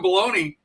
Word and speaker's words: bologna: They spell it bologona but it's like baloney. Anyway, Sean, speak of bologna.